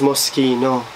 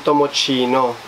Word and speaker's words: Moschino: They pronounce this as Moschino, hindi Tomochino. Baka pagtawanan tayo, mga box, pag tinawag na Moschino to.